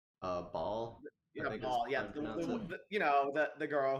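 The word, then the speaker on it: Baal: next 4 characters Is that are all how you pronounce girls. his name? Bale. Ball.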